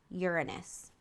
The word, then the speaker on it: Uranus: out to Reagan and I know that it's pronounced Uranus that's all I'm going